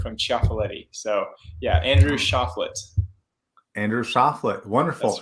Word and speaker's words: Choflet: So a lot of people think it's like the French, like, oh, Choflet, but fun fact, I actually don't even have any French in me, but I do have some Italian shortened from Ciaffoletti.